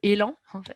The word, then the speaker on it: Élan: l'équipe que j'ai créée qui s'appelle élan en prononce à la française c'est justement d'essayer de